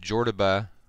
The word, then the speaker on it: Jordoba: And the reason for that is that Jordoba, which is, rhymes with Cordoba in Spain, is going to be the main city.